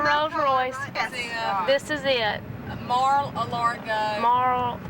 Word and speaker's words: Mar-a-Lago: Mar-a-Lago. Marl, how do you say it? Mar-a-Lago.